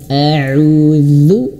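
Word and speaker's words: أعوذ: Kemudian huruf ain auzu. Dan kesalahan yang sering ketika tauz adalah ketika huruf dzal huruf dzalu. Dzahu ini bukan zu ya. Auzu zu bukan tapi auzu. Ujung lidah menyentuh ujung gigi seri atas.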